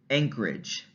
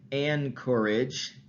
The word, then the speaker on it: anchorage: But I like the example of the word anchorage. So we don't say anchorage. Instead, that N sound becomes an ng sound, an ing, anchorage, because that ch that